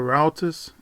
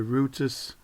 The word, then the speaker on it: routers: server configuration on Reuters for those of you in America you color routers I'm in England we call the Reuters and Harvey pronounce it